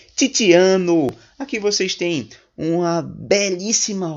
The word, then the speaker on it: Tiziano: Vou pronunciar italiano agora de forma adequada. Tiziano.